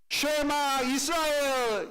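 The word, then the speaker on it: שְׁמַע יִשְׂרָאֵל: 쉐마 이스라엘 이렇게 히브리어로 발음해서 이게 쉐마 구절이라고 하는 유대인들 사이에서도 굉장히 유명한 구절입니다.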